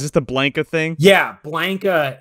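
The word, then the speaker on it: Blanka: the blanket thing yeah blanca is how you're supposed to pronounce it and uh the main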